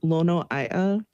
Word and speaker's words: Lono: So, how do I say your last name? Yeah, it's Lono.